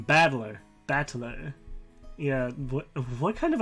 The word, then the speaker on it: Battler: so far problem is my given name is made up of the characters for fight and person and it's pronounced battler what put it all